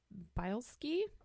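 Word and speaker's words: Bielski: yes um well according to Chicago historian Ursula bilski I think is how we say her last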